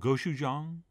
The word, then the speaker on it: gochujang: of korean chili paste which is called gochujang but if you can't pronounce that just say go chef john and that'll be close enough and what we'll do